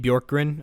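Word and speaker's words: Bjorkgren: hard to pronounce yeah nate bjorkrin i think is how you pronounce it yeah b-j-o-r-k-g-r-e-n yeah and that is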